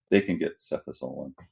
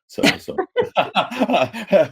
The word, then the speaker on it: cefazolin: For me, it's like, well, it's a cephalosporin, so it's got to be a cefazolin.